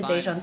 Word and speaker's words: Daejeon: I think everyone's going to Daejeon today.